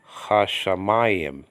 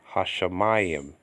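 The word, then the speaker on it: השמים: And so the letter can double, but you're gonna have to do the doubling yourself and pronouncing it. Okay, like the word for heavens actually, hashamayim, hashamayim.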